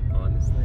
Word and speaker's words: honestly: Honestly. Honestly? No, the H is silent. Honestly, you don't actually hear the H in honestly.